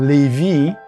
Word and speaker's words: Lévis: Well, the name of the city we're in is called Lévis. It spells exactly like the jeans Levi's, but we don't pronounce the S. So it's Lévis, and we're just across the St.